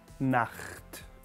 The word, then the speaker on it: Nacht: Na, like na, tongue at the roof of the mouth again at the beginning, na, and then almost like snoring, I suppose. Nacht.